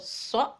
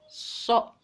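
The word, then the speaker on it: ث: Kalau so itu agak monyong ke depan, so.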